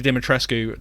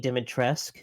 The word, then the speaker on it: Dimitrescu: uh coming up with the idea of lady dimetrescu to the to the finished product how how long does that process sort of take uh yeah so uh first of all pronounced lady dimitressk thank you so like the uh the the